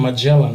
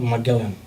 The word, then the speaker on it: Magellan: However, the explorer Ferdinand Magellan was killed during the Battle it's actually Ferdinand Magellan, not Magellan. That's how they pronounce it, Ferdinand Magellan.